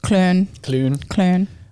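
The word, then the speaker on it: Köln: And then like Cologne, it's Clun.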